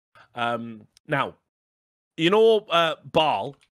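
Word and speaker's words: Basel: now you know uh ball b-a-s-e-l i think it's pronounced ball isn't it it's in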